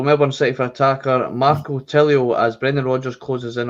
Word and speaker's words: Tilio: I've got a wee bit of a deep dive in here on, how do you pronounce this guy's name? Is it Tilio? Tilio.